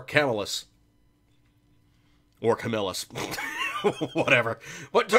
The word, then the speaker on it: Camillus: And there is, you know, the several ways of pronouncing it. You could say Camillus or Camillus. I've heard it both ways. Personally, I tend to think it's more Camillus.